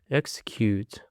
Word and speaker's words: execute: For the next word, we have got execute. Execute. It is of three syllables and the stress is on the first syllable.